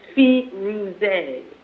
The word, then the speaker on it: Firoze: I always get all kinds of different pronunciation. It's Firoze.